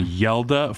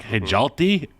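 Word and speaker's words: Hjalte: some help from Reed and Matt on the pronunciation yelda fro Holt if you looked at the way it was spelled I think it's h-j-a-l-t-e which is like hejalty and they're like nah it's yelda bro say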